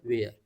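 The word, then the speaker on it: where: वाज या वर plus, इसको पढ़ते हैं वर, यानी इसका जो प्रोनाउंसिएशन होता है वर होता है, और इसका जो प्रोनाउंसिएशन होता है ये होता है वेयर, इसको बोलते हैं वेयर, इसको बोलते हैं वर।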